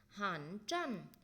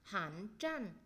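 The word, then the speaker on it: 寒战: Có cái từ rét run nữa, chúng ta đọc là gì đây? Hẳn trăn. Hẳn trăn tức là chiếm lạnh không à? Rét run bần bật. Hẳn trăn.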